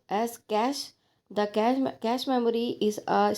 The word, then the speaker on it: cache: Then cache memory, pronounced as cache The cache memory is a special high-speed storage mechanism.